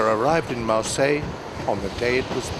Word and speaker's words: Marseille: arm missiles without cease 19th century English speakers would have spelled and pronounced the town's name with an S on the end Marseilles if the S ever was there the French dropped it a long time ago Marseillaise describes someone